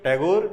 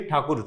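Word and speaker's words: ঠাকুর: टैगोर इज the pronunciation that was used by Britishers और बाद में वही यूज किया गया. ये ठाकुर थे.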